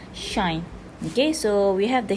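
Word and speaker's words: sinh: okay so hyperbolic shine hyperbolic sine is pronounced by s shine okay so we have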